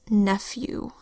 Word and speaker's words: nephew: Nephew begins with an N that says N, and then an E that says E, PH that says F. So that's the first syllable, neph. Second syllable, U, spelled E-W.